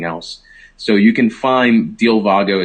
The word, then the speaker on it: Dealvago: So you can find Dilvago. It's spelled DEALVAGO.